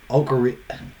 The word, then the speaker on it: Okereke: Okereke? It's Okereke. Yeah, I just Okereke. Yeah, Okereke. Okay. He changed the pronounce.